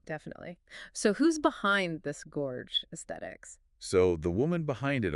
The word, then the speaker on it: Gorgesthetic: Gorge athetics yeah but it's pronounced like Gorge Aesthetics Gorge as in gorgeous get yeah I see